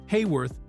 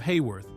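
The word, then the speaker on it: Haworth: After months of constantly having to correct directors, co-stars, reporters, and industry professionals who continued to call her Heyworth instead of Hworth, the young actress eventually reached a point of exhaustion with the whole situation.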